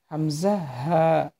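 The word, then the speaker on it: همزة: হামজা হামজা হা ছেলেদের যে উচা জায়গা আছে মানে গলার এই গলার ও উচার জায়গা থেকে হামজা হাফটি উচ্চারণ করবেন ঠিক আছে হামজা এটা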